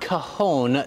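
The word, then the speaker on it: cajón: they're the makers of one of the top cajon drum lines in the country david martin checking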